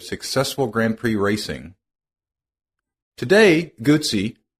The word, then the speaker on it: Guzzi: Today, Gucci, pronounce it like pizza, is best known for their trademark 90° V twin engine and shaft drive.